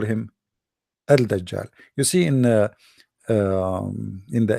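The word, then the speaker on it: al-Dajjal: say add that job because in Arabic here there is L there is L but they are trying to suppose they to teach you how to pronounce it so at that job they make it shorter but the fact it is al dajjal so we'll come to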